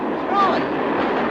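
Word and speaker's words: Froy: Troy. Sorry, I can't hear. It rhymes with joy.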